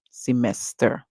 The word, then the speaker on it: semester: you hear semester but if you're using their British English their e is called as in the schw sound so we hear semester semester right so be very